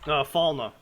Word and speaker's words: Falna: Falma.